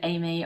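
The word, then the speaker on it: Aimee: two they're amy amy is spelt a-i-m-e-e and my mom is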